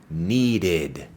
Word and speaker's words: needed: para los verbos regulares, que la ed se pronuncia como si fuera una sílaba adicional. Escúchalo bien. I needed. Esa it al final es como otra sílaba.